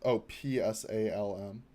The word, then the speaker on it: Psalm: It's PSALM. The one you're hovering. Yeah, that one. That's pronounced Psalm. Weirdly enough, English can be weird sometimes.